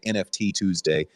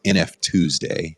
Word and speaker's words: NFTuesday: nft tuesday nf tuesday i keep on saying nft tuesday and someone told me no no no it's it's nf tuesday so i'll do my best to to say it correctly and nf tuesday instead of nft tuesday but uh i am